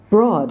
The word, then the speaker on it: broad: at the last gleaming broad whose broad stripes its are odd like strange broad not broad it's not an oh it doesn't you don't pronounce that I was a broad it's just aa broad for thee I'm looking